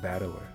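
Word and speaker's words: 戦人: The problem is my given name is made up the character for fight and person and it's pronounced battler.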